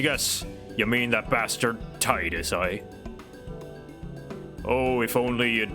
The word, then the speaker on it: Tidus: titan and i guess this confirms that it's pronounced titus not tidus oh what's that look